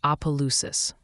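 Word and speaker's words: Opelousas: right my mistake opalus is pronounced apalus by the locals all right things are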